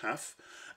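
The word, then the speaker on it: tau: Kendall's TAF, T-A-U, pronounced TAF, is a correlation coefficient used as it's a rank-based correlation coefficient.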